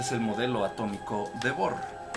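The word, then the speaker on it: Bohr: ya es viejo es el modelo atómico de bor se escribe b o H R y esto ya no pinta bien pero a ver Trataré de que se vea Okay aquí tenemos el modelo atómico de bor en el centro están los electrones y los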